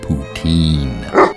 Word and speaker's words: poutine: It is pronounced Vladimir Putoutin. That's poutine.